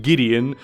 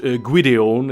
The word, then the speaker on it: Gwydion: my legal name though I have been taught pronounce it Gideon not guidion and I'm not sure